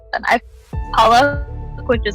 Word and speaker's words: Palak: The Starbucks barista getting your name wrong, or your friends calling you Palak instead of Palak?